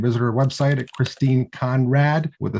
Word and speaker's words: Conradt: This week, we are delighted to have the prolific Christine Conradt with the silent T at the end, if you're looking her up online.